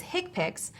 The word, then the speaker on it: HCPCS: common procedure coding system hcpcs commonly pronounced as hick pics are a set of